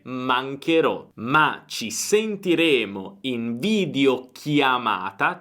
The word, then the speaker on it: mancherò: Però poi il suono cambierebbe, perché sarebbe mancerò, quindi dobbiamo aggiungere un H per mantenere lo stesso suono duro e dire mancherò.